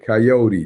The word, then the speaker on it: coyote: Coyote, that's how you say it.